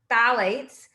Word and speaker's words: phthalates: one class of chemicals phthalates uh so right so the ph is silent i know it's kind